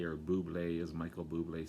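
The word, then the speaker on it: Bublé: a buble as michael buble says uh he i don't think he has anything to do with the drink it's just it just kind of rhymes with his name so he does the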